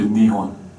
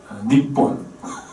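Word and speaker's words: 日本: 도금으로 일본 이렇게 하지만은 일본에서는 이제 니혼 두 가지가 있습니다. 발음이 니폰 이제 울트라 니폰이라고 우리 붉은 악마 같은 그 축구 응원단이 있죠. 일본. 이런 경우에 이제 니폰 이렇게 이제 발음을 해요. 그리고 일제강점기 대동아공영 건설할 때 니폰 다이데이코쿠 그러니까 일본 대제국 뭐 이런 식으로 이제 표현을 할 때는 니폰입니다. 발음이 좀 세요. 평상시에는 니혼입니다.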